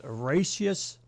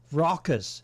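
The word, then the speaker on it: raucous: The once Racious Rock, not Racious, Rockus. Is that Rockus? How do you pronounce that?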